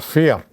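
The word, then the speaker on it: für: Or fear is for. So it is folk. Pronunciation is folk. It is fear. Pronunciation is fear.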